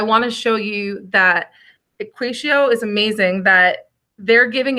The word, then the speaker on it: EquatIO: So I'm going to open up a new tab, go to apps, web store, and again, it's EquatIO. I know it's a funny way to pronounce it.